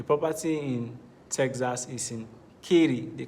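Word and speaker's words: Katy: for specificity the property in Texas is in ki they call it Ki the spelling is k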